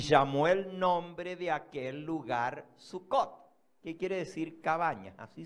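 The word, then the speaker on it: סוכות: la palabra cabañas es sucot y Samuel nombre de Aquel lugar sucott Qué quiere decir cabaña así se dice cabaña El hebreo el plural termina en ot el plural femenino el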